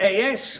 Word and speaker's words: AS: It's in it's in as I you don't pronounce it as.